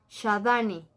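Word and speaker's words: Xadani: Y se escribe con X. X-A-D-A-N-I. Shadani. Creaciones Shadani.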